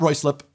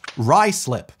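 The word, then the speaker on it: Ruislip: no no no no not Roy slip don't forget ignore C letters in the first syllable in this case it's the U pronounced Ry slip what a finished person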